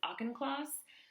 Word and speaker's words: Auchincloss: Lowe was handpicked for the job by Janet, I believe you pronounce this Auchincloss, the mother of Jacqueline